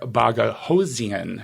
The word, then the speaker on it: Boghossian: I love JP D Baga hosan am I pronouncing that correctly close so it's uh BOGO like buy one get one see as then I